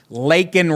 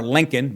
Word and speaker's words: Laken: out his rival, Biden, for mispronouncing the name of murdered 22-year-old nursing student, Laken Riley. He got Laken's name wrong, calling her Lincoln, mixing her up with a football coach, Trump said, as he blasted Biden.